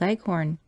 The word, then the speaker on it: leghorn: shanghai's and the white leghorn phoebe when she pronounces this word leaves out the h embarrassing heavily on the last syllable so that it rhymes with begone as i was sitting